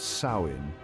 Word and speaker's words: Samhain: Halloween traces its origins to the ancient Celtic festival of Samhain, pronounced Samhain, celebrated around 2,000 years ago in what is now Ireland, the UK, and parts of northern France.